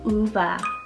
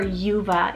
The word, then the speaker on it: Uva: beginning very uncommon and you can do uva or yuva if you really want to for an english pronunciation so with springtime coming